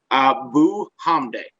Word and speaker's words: Abuhamdeh: That's how I was told to say it when I was at North Ridgeville for the Watcher. Abuhamdeh. That's the way it was spelled, and that's the way it was phonetically explained to me.